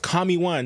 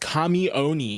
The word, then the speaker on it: KamiOne: And don't tell me is pronounced Kami 1 because Kamoni already came out on social media and said that it is pronounced Kamoni.